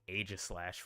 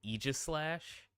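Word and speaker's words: Yveltal: in this region apparently uh I was saying AIS slash wrong it's pronounced Eis slash but I heard others say excuse me AIS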